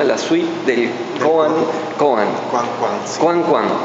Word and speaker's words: Coan Coan: Koan Koan. Así es como se pronuncia.